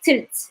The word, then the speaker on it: tlt: Short form, we just say tilt. Tilt. You see, no vowel. TLT, TLT, tilt. This is how we pronounce it. Tilt.